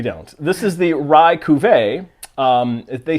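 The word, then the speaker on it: Cuvée: this is their Rye Cuvee. We did look up how to pronounce that prior to this video. It is very French. It's not Cuvee. It's not Cuvee, it's Cuvee.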